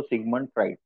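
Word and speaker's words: Sigmund: त्याचं खरं हे आहे पण आपण म्हणताना कसं म्हणतो सिग्मंड मानसशास्त्र म्हणजे अबोध मनाचा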